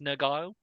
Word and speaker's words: Nurgle: It's pronounced Nergile.